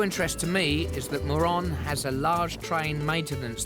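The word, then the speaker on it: Morón: But it's not pronounced moron, all right? It's moron.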